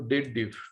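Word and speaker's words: DATEDIF: People do the wrong pronunciation. They believe that it is of dated if. No, it is the combination date and difference, not date if, date diff.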